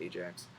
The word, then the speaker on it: Ajax: The other, Ajax, so Aias here, it's pronounced Ajax, perished with all hands, though first Poseidon landed him on Gyrae promontory and saved him from the ocean.